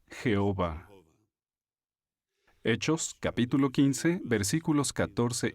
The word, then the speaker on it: Jehová: o jota h vh la pronunciación más común de este nombre hebreo es jehová hechos capítulo 15 versículos